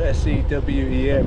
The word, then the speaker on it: Sewen: Spelled S-E-W-E-N, but I think it's pronounced Sewen. W comes V.